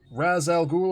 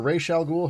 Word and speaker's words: Ra's al Ghul: So tonight I have got Raz Al Ghul, or Ra's al Ghul, however you choose to pronounce it. I believe both are acceptable pronunciations. I will be pronouncing it Raz Al Ghul because that's what I've always done.